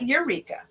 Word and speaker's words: Yreka: stocks in yreka california eureka eureka yeah i knew eureka but it said why so i was just you know pronouncing it right just like that because there's a wairika